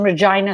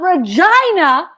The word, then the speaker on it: Regina: my brother lives in regina saskatchewan they could pronounce it regina they easily everywhere else it's regina now you go to regina